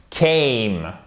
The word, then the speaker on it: came: Came. Vous avez une diphtongue ici qui est forte. Comme toutes les diphtongues d'ailleurs, mais c'est vraiment un son qui est puissant.